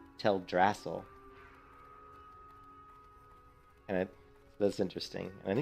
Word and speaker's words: Teldrassil: it was till drassel I always called it teldrassil I don't know about you guys would always call to tell dracil but she just pronounced it as tell drassel and it that's interesting